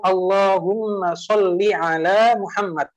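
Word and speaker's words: اللهم صل على محمد: Sebagian orang kalau membaca sholawat, kan sebenarnya kita mestinya baca Allahumma shalli ala Muhammad. Lamnya itu pendek kan? Lamnya itu pendek. Sebagian orang bacanya apa? Shalli ala Muhammad. Dipanjangkan lamnya.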